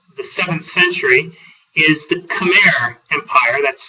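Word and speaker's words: Khmer: example from before the 7th century is the cham Empire that's spelled KH hm R the CH Empire centered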